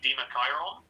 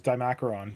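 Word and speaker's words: Dimachaeron: hilarious name for it i realized if we were being technical with the pronunciation it would actually be dima chiron which does sound better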